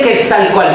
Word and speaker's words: Quetzalcóatl: ¿Cómo se dice? El Quetzalcóatl. Coal. Coal y Quetzal. Quetzalcóatl.